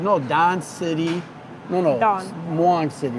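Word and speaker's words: Don Mueang: So we're in the food court area at Don Muang, and I found out some big news about Don Muang.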